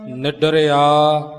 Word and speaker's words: निडर: सुजान त सबद लगाव निडर डर जानिया बाज गुरु गुबार निडर सही उच्चारण कीता है पाठी सिंह जी ने सो इसे तरह ही इस लज न बोलना है निडर डर जानि है